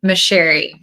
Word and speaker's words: Micherry: Micherry. It's Italian so most everyone gets it gets it wrong.